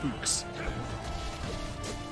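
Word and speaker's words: Fuchs: special place for uh spelt f u c h uh uh s which is supposed to be pronounced hooks and while we're on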